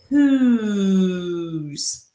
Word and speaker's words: whose: Now, let's listen to that. Who. I hear a U sound. What about you? So this does not fit our typical vowel O, short O. There's an O in this word, whose, and there is a silent E at the end of this word, but that silent E is not telling that O to say O. It's telling it to make the U sound.